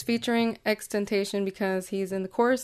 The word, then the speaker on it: XXXTentacion: too hard to say I've always called him expectation until I figured out how you really pronounce it so I'm just gonna go back to doing that for just for